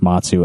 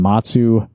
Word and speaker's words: Mazu: I think it's supposed to be pronounced Matsu, M-A-Z-U.